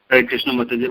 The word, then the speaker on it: Krishnamurti: that is never ever see it and it's pronounced Krishnamurti one last question I mean there's spiritual practitioner